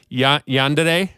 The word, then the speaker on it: Yandere: But now it's but now you have this new band, and I might butcher the pronunciation of this first word, but Yandere, right?